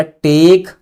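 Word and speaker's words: took: अगला टेक टूक। देखो इसको लोग कई लोग पढ़ते हैं। टूक पढ़ते हैं। टूक नहीं टूक। क्या? टूक। इसका प्रोनाउंसिएशन क्या बनेगा? टी डबल ओ के का टूक।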